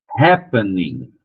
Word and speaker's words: happening: Só por causa da primeira sílaba que é mais forte. Então, a primeira sílaba vai continuar sendo mais forte. Happening, né? Happening, vai diminuindo.